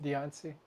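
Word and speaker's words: Diancie: Deiancy. Dianci. Deiancy.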